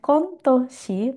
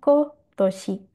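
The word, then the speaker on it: 今年: Jadi untuk tahun ini bukan kontoshi, tapi dibacanya kotoshi.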